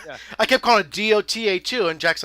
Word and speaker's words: Dota: I kept calling it DOTA2, and Jack's like, Daddy, it's pronounced Dota.